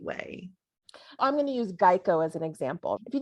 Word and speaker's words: Geico: happened to start was people were mispronouncing geico and calling it gekko so instead of correcting